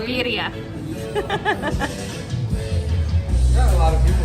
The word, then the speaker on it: birria: It's pronounced birria.